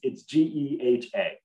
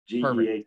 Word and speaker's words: GEHA: So it's GEHA. GEHA is the way we say it.